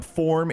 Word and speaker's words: Phorm: Forum Energy Drink.